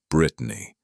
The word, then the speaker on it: Bretagne: Bretagne, pronounced Brittany, was just a 2-year-old pup, newly certified as a FEMA search and rescue dog.